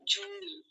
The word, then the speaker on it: জুঁই: না যে আমি জুই আমার নাম জুনি আমার নামটা উচ্চারণ হবে জুনি চন্বিন্দু থাকার কারণে এটা নাক